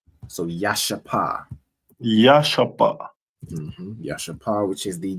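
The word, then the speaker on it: ישפה: And their stone is a jasper, which is pronounced in the Hebrew as Yashapa. So Yashapa.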